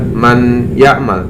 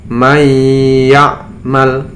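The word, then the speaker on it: من يعمل: dimasukkan ke pagar ya Jadi tidak boleh dibaca Man yakmal tapi dimasukkan May yakmal nya Suara anunya diperas adiun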